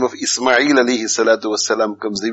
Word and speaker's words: Ismail: instead of saying ismail ishmael now when you write i-s-m-a-i-l where does ish comes from there is no h s h i s